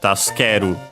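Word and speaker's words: 助ける: Notice also from my pronunciation that we have the U in su barely heard if at all because it's between unvoiced consonants. So yeah, usually taskeru.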